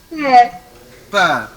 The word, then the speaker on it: peu: Now this word, PEU. How to pronounce it? Pear. It is pear.